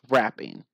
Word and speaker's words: wrapping: Oh, and by the way, rapping has the same pronunciation as wrapping. Like when you're wrapping gifts for someone.